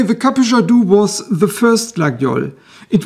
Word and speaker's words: Capuchadou: the spelling used here it comes with a CH so the proper pronunciation is probably kadu the name is a